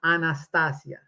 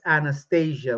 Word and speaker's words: Anastasia: Anastasia by the way her name pronounced Anastasia is Russian it's a beautiful language pronounce it correctly don't what's this Anastasia what what it sounds almost like she's going on the anesthesia but anyway so so